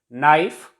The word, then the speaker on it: knife: K is silent before N in most of the words. Knife, it is not pronounced as knife, it is knife. K is silent here.